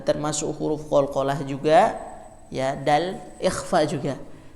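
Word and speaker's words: د: Ya, jadi bunyinya kalau kita sering ucapkan dalam alfabet Indonesia itu D, domba. Ya, hanya saja kalau D biasanya pengucapannya itu ada hamesnya. Nah, kalau dal ini dia tidak hamas, melainkan hanya menempel. Dadidu. Jadi tidak da. Jadi tidak disertai hembusan.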